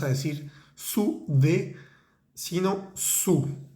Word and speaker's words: sous: En francés no vamos a decir sous de, sino sous. Esa palabra S-O-U-S se dice sous.